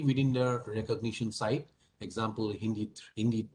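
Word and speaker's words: HindII: enzyme hind2 it is it is written as hind but it's mostly pronounced as hindi hindi 2 cuts at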